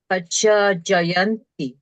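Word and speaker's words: pacchājāyanti: Can you repeat, noting in particular long esu, and be careful about the doubled ch, chajayanti.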